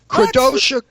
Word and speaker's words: Kadrolsha: Kadrolsha.